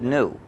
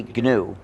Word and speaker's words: GNU: But when it's the name of our operating system, please disregard the dictionary. Please pronounce a hard G. Say GNU.